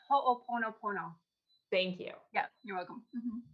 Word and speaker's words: ho'oponopono: how do you say that word you say ho'oponopono thank you yeah you're welcome additionally she healed